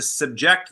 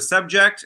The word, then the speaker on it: subject: And the other one, I had to subject the subject. Okay, that's part of the rule, right? I had to subject the accent on the second syllable, the subject, which is the noun, to a series of tests.